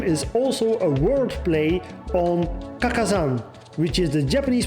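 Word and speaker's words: 花果山: that his name is also a wordplay on Kakazan, which is the Japanese pronunciation of the mountain on which Saiyuki's SonGoku was born.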